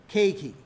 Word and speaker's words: keiki: What we're looking for is 2 syllables, keiki.